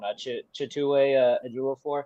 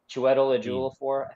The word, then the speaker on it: Chiwetel Ejiofor: I'm very fascinated to see I always struggle to pronounce his name. The bad guy in this one, Chitue Ejiofor, I believe. Shit. He played Baron Mordo in Doctor Strange. Oh. Chiwetel Ejiofor.